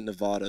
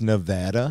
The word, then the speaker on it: Nevada: for 10 years and he was pronouncing it Nevada the whole time really and I I was too high to say anything I think I was like what the God it's Nevada it's Nevada yeah and